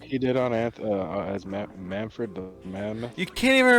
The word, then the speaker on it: Manfred: I'd be like, "Hey, uh son, your name's Manford. You don't think Manfred's a good name?